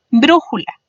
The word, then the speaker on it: brújula: Por ejemplo, brújula. Brújula se divide en 3 sílabas, siendo bru su sílaba más fuerte.